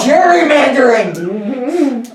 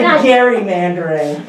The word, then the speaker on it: gerrymandering: And it's actually gerrymandering. Is it? I've never heard it called It is. As I live in a town where the Depends how Gary you Elementary pronounce School. jury. You pronounce it Gary.